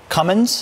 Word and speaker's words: Cummins: Here with that important information, Cheryl Nelson, meteorologist and weather and preparedness advisor for, is it Cummins?